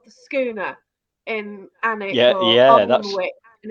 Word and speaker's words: Alnwick: it was when I went up to Oldmouth and Oldmouth is pronounced Oldmouth, but when you get to Oldwick, Annick. it's Annick.